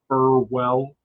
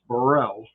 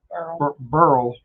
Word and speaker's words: Burrell: way, Burrell, and then, which us in the northern area would say Burwell, Burwell, Burwell, but it's Burrell, or Burl, like girl.